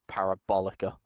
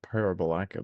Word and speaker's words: Parabolica: Just want to correct your pronunciation on the word parabolica. Yes. Thanks. That's the last turn. The big looping right No, under. I kind of liked Parabolaca before. Yeah, well, you know what, Dan?